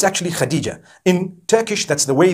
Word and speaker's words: Khadija: In Turkish, some people spell it H-A-T-I-C-E. I would say Hatice for that. No, it's actually Khadija.